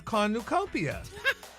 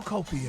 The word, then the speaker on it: cornucopia: is throwing you off this week's word is kopia I just say emphasize the you this week's word is kopia nope for God word